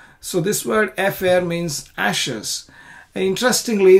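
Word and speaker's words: אפר: And this word efer, which was there here, ve'asaf ish tahor et efer. So this word efer means ashes. And interestingly, this word also rhymes with the word afar.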